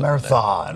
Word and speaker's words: marathon: done a marathon a marathon oh I didn't realize it's three syllables okay Mar Marathon oh